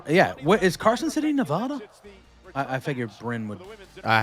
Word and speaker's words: Nevada: Is Carson City, Nevada?